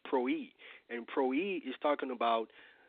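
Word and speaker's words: πρωΐ: So again, early is the Greek word prwi, which is pronounced proi.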